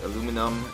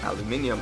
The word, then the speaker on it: aluminium: mentioned this car has all the aluminum or aluminium upgrades as some people pronounce it uh now I did